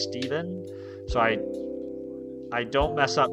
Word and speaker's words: Stevan: People have been messing up my name my whole life because it's spelled with an A. They've been calling me Stevan forever. My name is Steven.